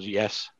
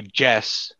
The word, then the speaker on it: Jessica: That's very, very commendable, yes. I keep trying to say Jess, and you pronounce it more yes, right?